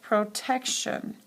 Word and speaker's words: protection: o n protect protection do you hear the hard C Sound in protect collect and the hard C Sound is gone collection protection so what does the the happen when we take the base word and add TI n it becomes a sh sound collection protection okay so